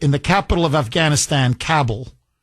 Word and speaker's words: Kabul: the capital of Afghanistan, Kabell or Kabul as they pronounce it over there.